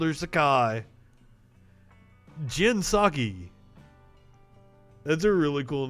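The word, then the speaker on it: Jen Psaki: you i would find out so here is jinsaki and that that's kind of a cool name i called her sakai jinsaki that's a really cool name at the same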